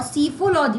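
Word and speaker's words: psephology: और सिफोलॉजी P silent रहता है इसमें।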